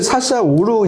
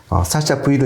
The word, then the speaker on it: Sasha V: 그래갖고 이 사샤 V를 사샤 5로 읽으시면 안 될 것 같아요. 아, 맞아요. 그렇죠. 저 그럴 수가 있는데. 샤샤 5라고 읽는 분이 계실 수도 있죠. 예. 그렇죠. 근데 이거는 그 매터리얼의 앞 글자 이제 V를 따온 거기 때문에 사샤 V로 읽는 게 맞는 것 같습니다.